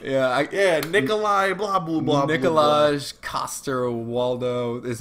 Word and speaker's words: Nikolaj Coster-Waldau: Yeah, Nikolai, blah, blah, blah, Nikolaj Coster-Waldau is how a dumb American from Georgia and Alabama would pronounce it, like me.